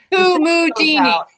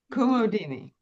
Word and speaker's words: Kumudini: I still haven't heard what her name is, because every time you say her name, Kumudini. Kumudi. Oh, okay. Kumudini.